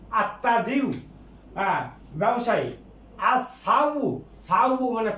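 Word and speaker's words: التاجر: যেমন আর তাজিরু, ব্যবসায়ী, আর তাজিরু, এটা হুরুফে শামসিয়া, এই তা হুরুফে শামসিয়া, এই জন্য লামের উচ্চারণ হবে না, সরাসরি আত্তাজিরু, আত্তাজিরু, ব্যবসায়ী।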